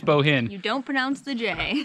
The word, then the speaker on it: Bohinj: arrived to lake bohinj I think that's how we were told how to pronounce it it's kind of difficult it's boah i in je but I think it's Bohen yeah but this Lake